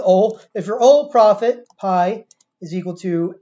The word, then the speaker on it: pi: And remember, this is a pi, actually it's pronounced P in Greek.